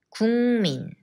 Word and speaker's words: 국민: 100년 전쟁에 대해서 배웠었어요 국민 국민 it also has a similar change 기역 미음 and becomes 이응 국민 국민 왜 우리나라